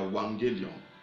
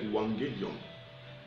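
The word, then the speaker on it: euangelion: Il y a wagelizo, il y a wangelion. Oh my God. Shalom, shalom Loïc, shalom. Wangelion, ça s'écrit E-U-A-N 2-G-E-L-I-O-N.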